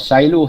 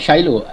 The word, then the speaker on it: silo: You know what silo is? No. Do you find out later? Not Shiloh, silo, SILO.